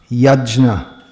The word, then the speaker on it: Yajna: Apparently this should be properly pronounced Yajna. There are different ways to pronounce this. But in modern Indian languages, the JN is always pronounced Gya.